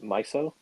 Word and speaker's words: MYSO: open very flexible system however miso and I'm pronouncing that properly right miso yes yes miso Finance takes a different